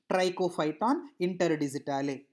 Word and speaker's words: trichophyton interdigitale: Okay, so first you break the words and practice for 2 3 times, and once you practice for 2 3 times, obviously you can be able to pronounce the complete name, trichophyton interdigitale.